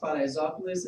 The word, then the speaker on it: Paraisópolis: But this section is not really ready, so it's we'll move on to my next research, which is it's pronounced Paraisópolis.